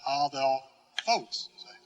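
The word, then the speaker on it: ἀδελφός: So we will put the accent then on the right syllable, adelphos. See? Now that isn't adelphos, it isn't adelphos, but adelphos. Accent on this, and the accent will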